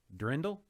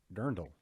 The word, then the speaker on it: Dirndl: Drindle? Dirndl. Okay, Brendan. Thomas, can you spell out phonetically how you pronounce Dirndl / Drindle? How do you pronounce that? Oh, it's Dirndl. No, that's what Brendan's saying. Dirndl, not I'm Drindle.